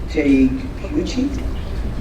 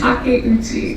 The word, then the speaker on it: Takeuchi: Melissa Takeuchi? Totally wrong. Thank you. How do you pronounce it? Takeuchi. Takeuchi.